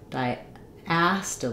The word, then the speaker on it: diastole: say the a sound diast actually this is incorrect diast like in black cat um so uh the first letter I says its name it's the I dip thong d d a and